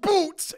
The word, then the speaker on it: Butz: it's usually the butts it's pronounced boots yeah okay in the